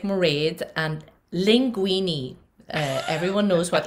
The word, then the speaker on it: Mairéad: It's very easy to pronounce my name if you rhyme it with parade. That's like Mairéad.